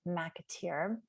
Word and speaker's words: McAteer: joined today by Meghan McAteer. That's how you pronounce it, right, Meghan? Yes. Okay.